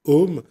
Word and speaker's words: Om: en fait c'est ça s'écrit a M a M a mais bon on dit om c'est ça montre aussi